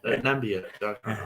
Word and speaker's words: Namibia: Namibia, whatever, how you pronounce it. Namibia is the correct pronunciation, yeah.